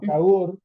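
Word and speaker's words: Кагор: Marc que se llama Cagor, que viene de, o sea, la pronunciación porque no hay no Y H en ruso se pronuncia como G, ¿no?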